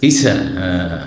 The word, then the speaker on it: ঈসা: আমাদের এলাকায় যদি বলে ঈশা মাছ বুঝবে না মোটেই বুঝবে না ঈশা মাছ না ঈসা না বলেন ঈসা ঈসা মাছ ছকে তো সক